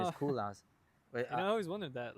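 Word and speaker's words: Koolhaas: Urban Koolhaus, cause his last name is Ah, Koolhaus. But I always wondered that. Like, how'd you? and I thought it was a funny thing because his name is, it's not spelled, but it's Cool House. Sometimes pronounced, but sometimes I was looking at it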